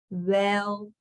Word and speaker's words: geweldig: Het gaat geweldig. Geweldig. So once you are able to say the ge, it should be fairly easy in breaking these up.